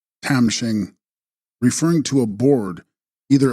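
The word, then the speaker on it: khram-shing: Text Tram Shing, pronounced Tam Shing, referring to a board,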